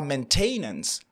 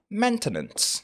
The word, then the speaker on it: maintenance: C'est vrai que le verbe, c'est maintain, mais on ne dira pas maintenance. On dira maintenance. Pensez un peu à maintenant. OK? Maintenant, maintenance.